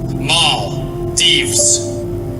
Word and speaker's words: Maldives: In American English, it is pronounced as Maldives.